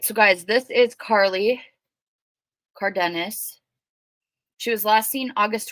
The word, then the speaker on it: Cardenas: Now I did ask her aunt how to pronounce their last name, and she said it was Cardenas.